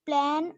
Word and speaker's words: plane: The surface may be plane or curved. හරි. plan නෙමෙයි plane නේ. කොහොමද pronounce කරන්නේ? Plane. plane. plan නෙමෙයි ඈ.